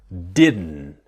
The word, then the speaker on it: didn't: What we want to learn is about the t is silent, right? So didn't very very similar to doesn't because it doesn't and didn't similar the n the strong n didn't.